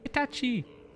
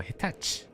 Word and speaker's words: Hitachi: Hitachi. Or Hitachi. Never pronounce the chi for some reason.